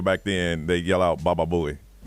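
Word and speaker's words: Baba Booey: Baba Buouie. Baba Buouie.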